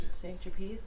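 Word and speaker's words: Saint-Tropez: it's a Swiss modern St trape trapes trapes St trapes St trape oh that's how you say it St trape very cultured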